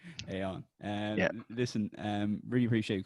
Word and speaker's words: Aodhán: You're gonna have to call me Aon, like crayon or spray on. That's how I always introduce myself. Yeah, it's pronounce it Aon. Aodhán.